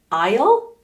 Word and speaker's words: isle: aloud isn't allowed here Isle Isle Isle Isle and these two words sound the same as Isle as an I will same pronunciation Isle Isle I oh okay um